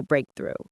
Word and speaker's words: breakthrough: That's a personal breakthrough. Break through. Stress on the first syllable.